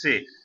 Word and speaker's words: c'est: This is say. This is same as the say, SAY in English.